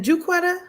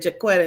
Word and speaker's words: Juquetta: Is it Juquetta? Yep. Because she keeps telling me I'm pronouncing your name wrong because I keep saying Jaquetta and she's like, it's Juquetta. So I feel like she always would say that. She would always say that. People say like Jaquetta.